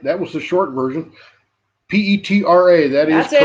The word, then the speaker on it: Petra: Petra.